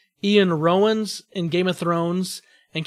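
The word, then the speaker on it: Iwan Rheon: I loved hated even I think it's pronounced Ian Rowan's in Game of Thrones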